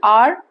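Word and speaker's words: hour: That's because there is a silent H and R begins with the sound R.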